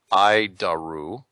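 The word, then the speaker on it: ADIRU: data initial reference unit we pronounce it ID aru hide our roof horrible name but I'll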